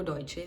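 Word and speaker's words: Deutsche: जिसे लोग डच bank डच bank बोलते हैं। वह डचे बैंक नहीं है। वो टॉय and there are different different प्रोनन्सिएशंस for each word. मुझे लगता है वो डइशे है। डइशे डइशे उसको ऐसे बोलते हैं।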